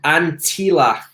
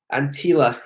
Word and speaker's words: Antilla: to say you do yeah a place called antilock Antilla right so it's spelled like a NT e a ll a